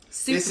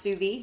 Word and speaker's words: sous vide: hear people say it all kind of like sues my easiest best way to make the state but it's pronounced sube sube and so what we're gonna do is